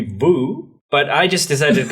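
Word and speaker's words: Vue: word so oh yes the technically correct pronunciation would be Vu but I just decided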